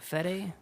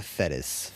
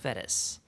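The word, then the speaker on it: Fettes: Fede. Uh, it's Donald Fetis. Fetis.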